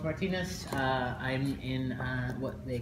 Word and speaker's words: Martínez: my name is pronounced Martinez I'm in what they call the character department